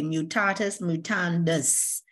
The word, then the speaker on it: mutatis mutandis: Okay, mutatis mutandis. It's a Latin word, of course.